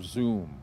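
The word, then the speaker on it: Xoom: uh either wise or zoom and zoom is spelled X oom okay and those are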